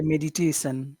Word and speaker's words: meditation: That was a good way that you said meditation. You gave all the power to Tay.